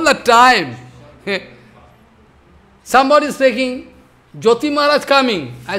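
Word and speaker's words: ज्योति: Somebody is speaking, Jyoti Maharaj coming. I say, what is the name? Jyoti or Yoti?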